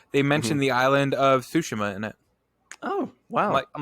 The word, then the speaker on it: Tsushima: you're the Japanese major please pronounce it tsushima this is how you would say it I feel like I'm I'm like slurring it though like I think I'm adding an H in there tsushima right yeah close enough